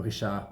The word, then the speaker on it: Richard: And it's spelled the same, Richard, but when he was born, his parents called him Richard. That's how it was. They don't say the D on the end of that word in French.